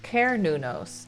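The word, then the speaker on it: Cernunnos: Sir Nunos, I think I spelled it right. Google says it's pronounced Ker Nunos.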